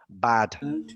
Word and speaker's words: bad: Let's get that pronunciation right. Not bed. Bad. Bad. With an like that.